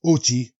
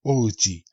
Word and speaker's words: Ochi: That's Ochi, not Ōichi.